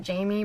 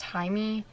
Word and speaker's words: Jaime: I know a lot of people pronounce it Jamie, but I think it's pronounced Jaime. That still could be wrong, I don't know.